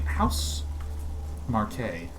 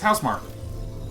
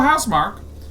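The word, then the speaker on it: Housemarque: House Marquet.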